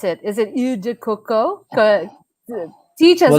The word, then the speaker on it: Eau de Coco: Is it Eau de Coco? Teach us how to pronounce it correctly. Yeah, well, I'm not French, but my boss is French, so he says okay. it as Eau de Coco.